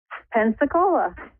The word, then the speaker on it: Pensacola: How do you pronounce that? Pensacola? Pensacola.